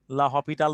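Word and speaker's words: L'Hôpital: এল হসপিটাল হচ্ছে একজন ম্যাথমেটিশিয়ানের নাম, অনেকেই তাকে লা হসপিটাল বলে, লা হসপিটাল থেকে আসছে। লা হপিটাল বা হসপিটাল যা বলো, ইটালিয়ান উচ্চারণ যদি হপিটাল বলো বলো, সমস্যা নেই।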